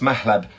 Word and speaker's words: Mahlab: Mahlab, how do you pronounce Mahlab? It's pronounced Mahlab. Sometimes it's spelt M-A-H-L-E-B. Sometimes it's L-E-B because there isn't a direct translation to it.